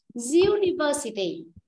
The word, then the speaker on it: university: Nhưng cái từ này nó được phát âm, không phải là âm U. Nó đọc này, ví dụ nhá, từ số 1 cô đọc này, uncle, uncle là chữ A. Nhưng mà số 3 cô đọc này, university, university. University. Vì vậy cái chữ U ở đây nó được phát âm ra âm diu. Âm diu là nó là một phụ âm, nó không phải là nguyên âm.